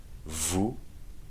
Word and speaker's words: vous: Vous, you don't pronounce the S at the end either.